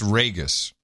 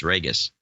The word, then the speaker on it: Ragus: It's Ragus. Ragus. Ah, there it is, Ragus. It's pronounced like Vegas, Ragus.